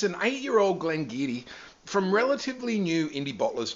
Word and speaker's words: Glen Garioch: And this month we are super excited to offer the Glen Garioch 8-year-old. Watch out for that pronunciation. It looks like Glen Garioch, but it's not. It's Glen Garioch.